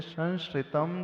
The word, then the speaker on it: संश्रितम: संश्रितम जो लिखा है, सन के बाद जो श्र है यानी वो तालव्य श है, तो उसका उच्चारण स्थान जो होता है चवर्ग का, इचु यशानाम तालु, तो चवर्ग का अंतिम अक्षर आएगा, ऐसा है, उसको इस प्रकार से लगाना। हाँ, और छत्र ज्ञा के